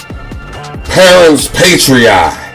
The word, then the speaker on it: parens patriae: I want to discuss a concept called parens patriae. Parens patriae. I'm going to spell it out just so you can go look this up.